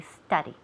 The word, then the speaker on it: study: you so study here study never studies that you sounds like suena it sounds like an a so we say study will you study if